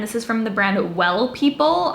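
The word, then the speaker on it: W3LL PEOPLE: is from the brand well people I believe that's how you say it's a three instead of an e but this is just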